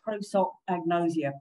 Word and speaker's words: prosopagnosia: So it's prosopagnosia. Prosopo is the face. And if you think about gnosia, it's like knowledge. It almost sounds like the word knowledge, doesn't it?